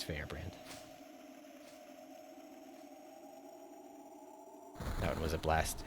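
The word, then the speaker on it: Feyrbrand: right the green tusk dragon fear brand or fair brand i'm not sure how you say it it's fair brand that one was a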